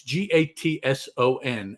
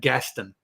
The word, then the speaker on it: Gatson: guys, for you listening, because it's Gatson. And of course, my impulse is to pronounce that Gaston, because that's just easier to do. But that's not the name. The name is Gatson.